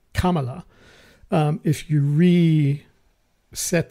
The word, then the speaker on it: Kamala: Kamala or a Kamala I know she doesn't like Kamala but she pronounce it Kamala um if you re